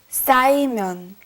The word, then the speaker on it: 쌓이면: Be careful with the 싸. 쌓이면.